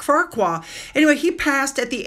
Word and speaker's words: Farquhar: memorial service for Captain Ian Farquhar, I think is how you pronounce it. Like Shrek, Farquhar.